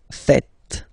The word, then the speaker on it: faites: It's vous faites. Vous faites. Okay? So remember, final S here is not pronounced, and then this E is not pronounced either.